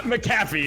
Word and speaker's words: Macaffey: How do you pronounce it? I want to avoid getting sued. Yeah, Macaffey is what it is.